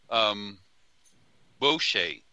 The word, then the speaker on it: bochet: a French sounding woman bo che like boo instead of bowl like scary boo keeping